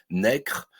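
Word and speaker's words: Necker: 18e siècle et bien ont prononcé necre ce qui ne viendrait à l'idée de personne aujourd'hui on dit ne voilà donc les prononciations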